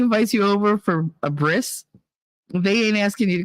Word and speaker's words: bris: for his you know bris which I used to pronounce as Bri I didn't know that Brie was a cheese so you got to be very careful bris and a Brie like